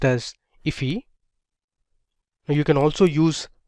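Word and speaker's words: IIFE: So this is known as an immediately invoked function expression or i which is often pronounced as ify.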